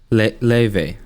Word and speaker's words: Lauv: Just recently, Lauve, how do you pronounce it? Leve.